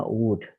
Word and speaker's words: would: ke penggunaan would like bacanya would l-nya tidak usah dibaca ya ini ehor l ini engak perlu dibaca like ya ini e